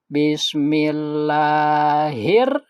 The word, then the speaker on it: bismillah: Pada pengucapan bis itu harus bersih ya sinnya. Jangan begini. Nah misalnya bismillah, salah ya. Harus bis ya.